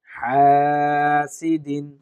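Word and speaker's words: حاسد: করার চেষ্টা করবো হাসিদিন হাসিদিন টানবো এক আলিফ হাসিন দ্রুত উচ্চারণ করব হাসাদ হাসাদ মুখস্ত করার ক্ষেত্রে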